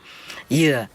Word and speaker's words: dừa: Because in Vietnam, especially the south, they pronounce coconut like dừa, yeah, dừa in Vietnam, in the southern accent, dừa.